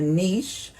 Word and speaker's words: niche: to Simply identify like a niche um or Niche depending on how you say it that matches your skills